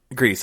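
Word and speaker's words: Gries: Grease, I think. Yeah, I think that's how they pronounced it in the I think documentary.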